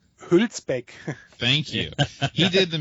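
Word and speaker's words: Hülsbeck: Hulpek.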